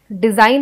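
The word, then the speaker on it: design: क्योंकि जी जो है वो इसमें साइलेंट है। डिजाइन है ना, इसमें ऐसा लगता है कि DESIN स्पेलिंग है, बट जी साइलेंट होने की वजह से हमें जी का पता नहीं चलता।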